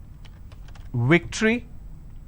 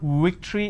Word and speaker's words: victory: the word which is victory they pronounce this as victory now remember what I said if you have the letter V you need to bite your low tree no it's not Victory it's victory if I have the